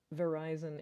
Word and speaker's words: Verizon: Verizon is a cell phone service provider, and it rhymes with horizon.